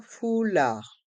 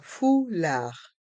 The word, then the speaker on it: foulard: Un foulard. Les voyelles O et U se prononcent OU, fou, et le D du mot foulard est muet.